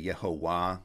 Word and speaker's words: Yehovah: So this first one is where Jehovah comes from, because you would say Yehovah, or in classical Hebrew pronunciation, you'd say Yehovah, that Vav was originally a W.